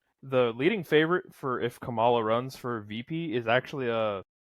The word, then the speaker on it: Kamala: And now he's neck and neck with Kamala Harris. Kamala. I don't think he is. Kamala. I got corrected for saying it wrong earlier, and now I don't care.